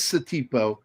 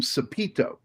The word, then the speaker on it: Satipo: And by the way, his name is Satipo, but Indiana Jones twice mispronounces his name. Yep. He calls him Sapito.